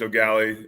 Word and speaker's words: O'Galley: You did pronounce it correctly, too. It's O'Galley.